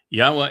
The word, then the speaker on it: Yahweh: I systematically prove, irrefutably, that the proper pronunciation of Yod He Wah He is as Yahweh.